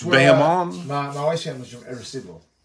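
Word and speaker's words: Bayamón: We'll just do a nice big Bayamon. Bayamon? Am I saying it right? Bayamon.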